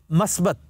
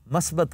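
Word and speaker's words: مثبت: मसलन मस्बत, हम एक लफ्ज बड़े तवातर से कहते हैं कि ये बड़ा मस्बत पहलू है, मस्बत गलत है, मुस्बत।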